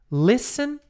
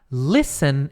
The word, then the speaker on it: listen: E aí a gente tem listen, que é escutar. Listen é escutar. Curiosidade de pronúncia, você não fala este aqui. Não é listen, não, é listen. Imagina que não tem o T.